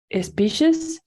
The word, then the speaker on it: species: Species? Good. Very good. This is like sh, right? At the beginning, you said it without the sh, but it's better like that.